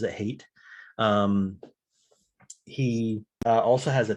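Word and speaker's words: Haidt: dr hate uh it's spelled hyatt but he pronounces it hate um he also has a ted talk that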